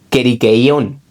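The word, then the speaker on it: κηρύκειον: Y tu bastón se conoce como el queriqueón, o sea, bueno, es que esto es en griego, ¿vale?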